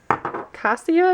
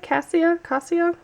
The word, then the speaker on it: Cassia: Cassia, I think is how you say it. Cassia.